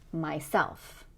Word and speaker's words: myself: And these have stress on the second syllable. Myself, themselves, himself, herself, etc.